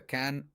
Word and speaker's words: Cannes: So, that's why people often use the French pronunciation.